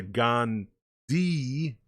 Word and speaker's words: Gandhi: another hot line so gandhi has an h in it you know it's g-a-n-d-h-i but the h is silent so you say gone d and he's saying you